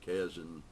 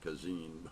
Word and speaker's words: Kazin: John Barth, and I think many other writers and a lot of critics, maybe Alfred Kazin, I always pronounce it Kazin, but I think it's Kazin, all say that self-consciousness contributes a great deal to writing.